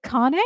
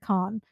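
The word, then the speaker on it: Carne: And I think it's is it Kane? Is that how you say his name? Patty and Kane or is it Khan? I think Kane is how it would be because it's French for meat, right?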